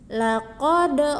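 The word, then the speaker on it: لقد: Qalqalah yang pertama pada kata laqad. Laqad. Bacanya dipantulkan ya.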